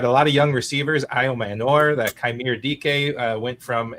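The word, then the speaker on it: Ayomanor: Aymar, is that his name? I can't pronounce it. Io Manor, yeah.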